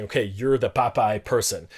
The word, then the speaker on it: papae: teaching pronunciation rules but specifically emphasize this is pronounced popeye and so on uh because students at that